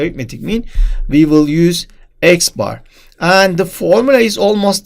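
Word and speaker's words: x̄: symbol here it is we pronounce it as X bar so X bar is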